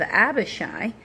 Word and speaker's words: Abishai: He put the rest of the men under the command of Abishai. This I do also know the one I know I'm pronouncing right.